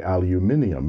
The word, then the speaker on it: aluminium: one in black energized aluminum those of you in the UK will be snickering about my pronunciation of aluminum wanting me to say aluminium instead well the Brits are